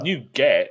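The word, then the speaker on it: NuGet: Gary you pronounce well new get is new get so new get nugget but you new that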